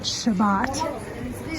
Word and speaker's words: Shabbat: like the Sabbath here they pronounce it Shabbat here and that's the day